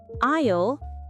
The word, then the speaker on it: aisle: Aisle is the seat next to the walkway. The word aisle can be a little tricky to pronounce. It sounds just like I'll, as in I'll call you.